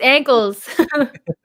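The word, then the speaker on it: Ackles: say his last name is it egg ankles ankles it's ankles yeah he's gonna be this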